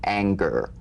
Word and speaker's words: anger: For instance, this is the difference between the soft G in singer and the hard G in anger, right? Mm-hmm. For instance, a singer sings, but an anger doesn't ang, right? So the at the end of that word is meaningless in terms of the whole word. That has a hard G.